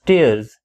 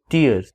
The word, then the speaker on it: tears: is rips or tears it is pronounced as tears and not tears part b is applications